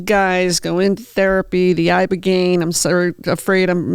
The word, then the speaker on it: ibogaine: So many of these guys go into therapy, the ibogaine. I'm afraid I'm mispronouncing that.